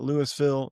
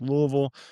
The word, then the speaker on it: Louisville: Being from Louisville, not Louisville, not Lewisville, it's Louisville."